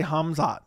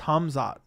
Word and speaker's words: Khamzat: How do people not know how to say Hamzot? It's Hamzot, right?